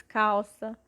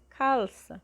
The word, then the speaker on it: calça: Mas nós temos aqui também ouvido, depois temos calça, e pode ver que tudo que eu estou pronunciando parece ser a letra U, mas, por exemplo, ouvido é com U mesmo, mas calça já é calça, é com L, só